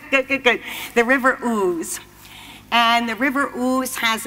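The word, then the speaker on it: Ouse: And the river, okay, O-U-S-E, I think it said ooze. Am I correct on that? I did look it up. Thank you. Good, good, good, good. The river ooze.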